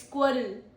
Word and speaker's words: squirrel: Pro tip is RREL blends tricky for non-natives.